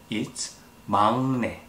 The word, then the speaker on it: 막내: Even though the first letter has 기억 on the bottom part, it should sound like 응. So, it's 막내, not 막내.